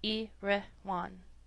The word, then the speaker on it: Erewhon: to be understood that iroan is pronounced as a word of three syllables all short thus e rean preface to the second